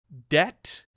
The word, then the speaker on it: debt: be in comb and we don't pronounce it in in debt we don't pronounce it